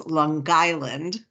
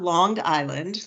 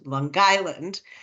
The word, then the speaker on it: Long Island: you have to learn the correct pronunciation for it's Long Island not longed Island Long Island um and um we